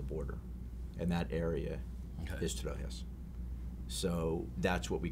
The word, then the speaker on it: Trojes: T-R-O-J-E-S. Trojes. Pronounce it.